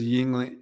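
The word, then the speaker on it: Yuengling: there justin it's okay yep yep he says yingling see it's here's how it's spelled there's how you that's the right way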